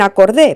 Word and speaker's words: acordé: En acordé, por ejemplo, esa o no es tónica, sino átona. La vocal que se pronuncia fuerte es la e, ¿verdad? Acordé. Esta es la razón por la cual la o se conserva.